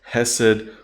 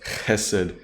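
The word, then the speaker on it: חסד: that we've looked at, which is hesed, or pronounced chesed, if you want the Hebrew pronunciation there.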